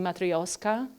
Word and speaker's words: matryoshka: clothes first of all data uh in a matryoshka was a correct way of pronouncing matreoshka matreoshka matreoshka thank you I suspected so data